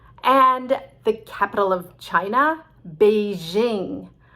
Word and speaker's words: Beijing: the capital of china beijing i know it's supposed to be like the chinese say it beijing but nobody says beijing we say beijing sounds a little exotic and respectful and i don't think